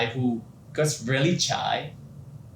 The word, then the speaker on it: Chaii: opened the Google translate it just pronounced like chai or not or chai and it's fun fact to play with my name when I'm introdu myself to my clients oh my name is chai what is chai chai